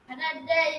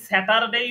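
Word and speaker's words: Saturday: Monday স্যাটারডে সানডে Monday আমি কি স্যাটার বলেছি স্যাটার র এর উচ্চারণ হবে না এখানে আমি কি স্যাটারডেই বলেছি স্যাটার না তো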